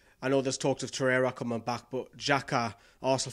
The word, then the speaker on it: Torreira: Torreira is how you pronounce it. Yeah, Torreira.